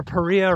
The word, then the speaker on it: Paria: and many others say always remember paria rhymes with Maria so there you have